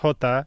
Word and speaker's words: jota: They're saying it's pronounced Jota, and then the slur.